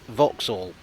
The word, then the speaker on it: Vauxhall: but it's pronounced heynolt this station name is a mess there's an a u there's an x and there's an h but it's pronounced vauxhall this is ladbroke grove